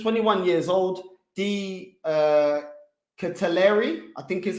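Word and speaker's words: De Ketelaere: games at just 21 years old the uh catalari i think is how you say his name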